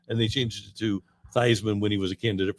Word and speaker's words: Theismann: Doug Williams, Joe Theismann, Charlie Theismann before he went to Notre Dame, and then he tried to win the Heisman. Yeah, and they changed it to Theismann when he was a candidate for the Heisman.